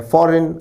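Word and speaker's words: foreign: answer होगा option C शब्द फॉरेन में आई और एन के बीच में जी भी होना चाहिए था जो कि नहीं है एफ ओ आर ई आई जी एन शब्द की सही स्पेलिंग है उच्चारण है फॉरेन अर्थ है विदेशी अन्य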